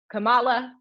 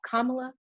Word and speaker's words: Kamala: primaries um news anchors and reporters are still mispronouncing her name it's not kamala it's not kamala it's not pamela it's kamala um and um also now a big ridiculous